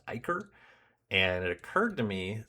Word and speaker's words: ichor: I've only ever heard this pronounced Icarid, but actually I was thinking about it because ICHOR, that word is pronounced Iker.